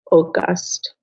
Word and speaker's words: august: that all must cross very good um we pronounce uh the word august august oh god because he is pitiless in his